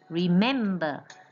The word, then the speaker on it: remember: For example, like remember. You don't say burr. Burr, you don't stress the burr, you only stress the mem, remember.